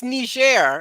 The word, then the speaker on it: Niger: so much well it's it's Nisha share it's a French pronunciation uh it was a